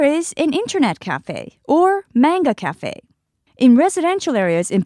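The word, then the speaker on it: マンガ: In English, you pronounce it manga, but actually in Japanese, it's manga because we don't have that a sound that we have in English.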